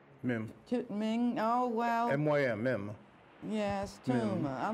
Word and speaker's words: Mym: This is Mym Tuma, and she is was a friend of